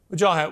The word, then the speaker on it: Wajahat: me go to the man you've been accusing joh hat what do you say to that well first of all excellent pronunciation of my name Brooke thank you also